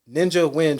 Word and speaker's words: Nguyen: So I want to talk about your Ninja Nguyen training. Yes, sir. Did I pronounce that right?